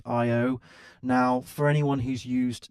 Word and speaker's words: Ayo: is that we have this other fork called Ayo, which is pronounced Io.